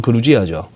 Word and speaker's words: 그루지아: 이 조지아가 이제 그쪽 현지 발음으로는 그루지아죠.